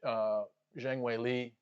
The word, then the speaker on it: Zhang Weili: is Rose Namajunas versus Zhang Weili. That's how you pronounce it, I believe, from someone from China. You do the last name first and then the first name.